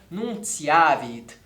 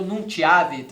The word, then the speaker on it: nuntiavit: E essa é a pronúncia, né? Nunciavit. Aposto que muita gente leu Nuntiavit ou Nuntiavit. Mas, é claro, nós prezamos, então, ainda mais no caso de uma oração, pela leitura dela e pela leitura das palavras na pronúncia eclesiástica.